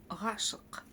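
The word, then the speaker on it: ғашық: Как прочитать букву к в данном случае? Да, вот ровно только точно так, как мы с вами учились читать букву Г, то есть откашляться или отхоркнуться. Точно также мы с вами учимся читать букву к с хвостиком снизу. Тоже нужно откашляться или отхоркнуться.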